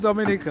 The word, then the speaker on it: Dominica: nature you know you could get everything from dominica we are dominica we call it dominican nature nature yeah we love dominica and i hope you love it as well